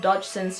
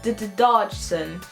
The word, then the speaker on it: Dodgson: When speaking, Charles stuttered, so sometimes he would pronounce his last name as Dodgson, as in dodo.